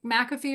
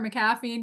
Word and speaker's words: McAfee: anti-malware software things like McAfee or maffi depending on how you pronounce it AVG there's malware